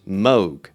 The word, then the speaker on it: Moog: Yes, Moog is pronounced Moog.